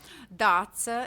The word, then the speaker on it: Dace: from latvia that's uh datsa is quite common name for girls in latvia but a lot of english speakers find it a little bit challenging to pronounce so i never get